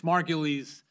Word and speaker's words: Margulies: bit difficult to pronounce uh it's margules it's a German Jewish name that's relevant here because